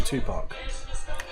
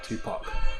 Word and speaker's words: Tupac: Oh, Punjabi Tupac. Said it right that time. Tupac. Not Tupac. Tupac.